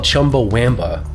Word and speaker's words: Chumbawamba: It turns out that the band is called Chumbawamba, with an A instead of a U.